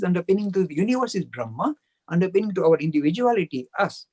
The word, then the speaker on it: Brahma: The pronunciation is Atma, not Atman, but made in English we make it Atman and Brahman, but it's Atma, Brahma.